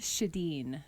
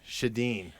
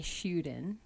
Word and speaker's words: Sjoden: let you pronounce it it's swedish um and it's shadeen shadeen and actually over there they say shootin or so i'm told but the sj is